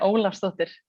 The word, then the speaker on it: Olafsdóttir: Yeah, Olafsdóttir would be the Icelandic way of saying it, but I won't ask anyone to do that.